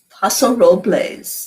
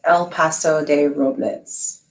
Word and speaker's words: Paso Robles: i'm with rosalind in paso robles am i saying it right well i they would say el pas there's a sign when you drive into the city it says el paso de robles and oh robles real